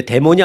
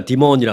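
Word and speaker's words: Demon: 뭐 미국식에서 발음은 이제 데몬이 아니라 디몬이라 그러죠.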